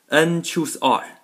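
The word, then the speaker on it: n choose r: sing in the book and choose r okay this is how you how you say it and choose r that's exactly the same as un c r on the calculator okay unchoose r or ncr these two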